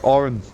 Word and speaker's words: Auron: And basically what happened is, all the abilities that Auron, that's how you say his name, had Tidus got.